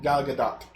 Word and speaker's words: Gal Gadot: Gal Gadot. Gal got it. Right? Gal Gadot. Yeah. Found out the T is pronounced.